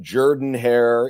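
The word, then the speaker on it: Jordan-Hare: By the way, kudos to Josh for pronouncing it Jordan hair even though it looks like Jordan hair.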